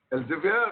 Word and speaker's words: Elsevier: What's the correct pronunciation? Elsevier or Elsevier? Elsevier. Elsevier. Okay.